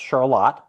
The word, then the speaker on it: Charlotte: because there's a Charlotte is pronounced Charlotte.